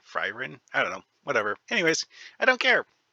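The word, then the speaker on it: Faerûn: I'm not even sure I'm pronouncing Freerin right. This is how it's spelled. Freerin. That's what it looks like it's pronounced like to me. Fryrin?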